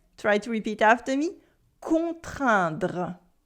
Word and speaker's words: contraindre: Try to repeat after me, contraindre. Contraindre means to force or to compel.